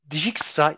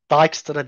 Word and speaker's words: Dijkstra: Şimdi arkadaşlar Dijikstra ya da Dijkstra diye telaffuz ediliyor sanırım. Biz de öyle telaffuzu uyalım. Dijkstra algoritması en kısa yol algoritması.